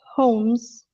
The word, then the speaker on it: Holmes: in homes oh yeah this is a silent letter it's only a name but this is how people usually pronounce it homes it might sound like homes as in a house yeah as in a